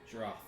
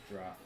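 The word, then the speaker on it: Jrath: Droth. Spell that. Wrath with a J.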